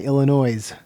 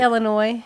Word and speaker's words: Illinois: here on this side call Illinois Illinois with an S the S I say Illinois I know but a